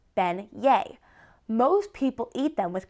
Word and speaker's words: beignets: They are called beignets, pronounced ben-yé.